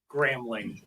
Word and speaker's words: Gramling: Gramling. Okay. There's no B in it.